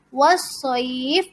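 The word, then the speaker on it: وَالصَّيْف: Wassoifi dibacanya wassoif atau dipanjangkan 4 harokat. Wassoif. Atau 6 harokat. Wassoif. Boleh. Tulisannya wassoifi tetapi karena waqaf dibaca wassoif.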